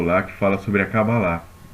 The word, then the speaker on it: Kabbalah: que fala sobre a Kabbalah. E, né, a pronúncia judaica é Kabbalah, a gente fala Kabbalah, né, mas é Kabbalah.